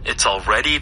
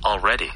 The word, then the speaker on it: already: 뭐뭐이다, 뭐뭐다라고 할 때 근데 벌써 already the end of April. 네. 하시면 아무도 못 알아듣고요. 어떻게 하면 좋을까요? Already already. Already already. 솔직히 l 발음도 거의 안 나요.